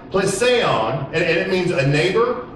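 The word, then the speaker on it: πλησίον: Neighbor means in the Greek, the word is pronounced plesion, and it means a neighbor, a friend, any other person, and where two are concerned, the other, thy fellow man.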